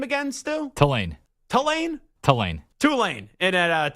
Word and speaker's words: Tulane: Tulane.